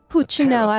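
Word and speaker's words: Pulcinella: Puchinella. That's how you pronounce it.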